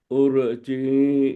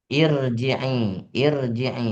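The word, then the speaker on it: ارجعي: ya ayatuhan nafsul mutmainnah urji ila rabbiki irji'i bacanya kan bukan ur ur ya ya irji ila rabbika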